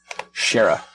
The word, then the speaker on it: Shara: Shara yeah sure yeah I'm going by the official Roy dotrice pronunciation in my audio book version ok Shara I know that yeah